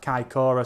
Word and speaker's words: Kaikoura: Mad Kiwi says I pronounced Kaikoura spot on too.